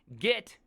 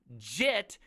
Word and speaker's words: Git: it so first off you've been saying it wrong this entire time git is an insult jit is a Version Control System all right so let's